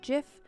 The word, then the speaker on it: GIF: tongue lance berg says i like to say gif like gift with a silent g so if so ift lance where's lance from what does lance do lance's shenanigans also landsberg said this to all the people who pronounce gif like jiff i hope you don't jet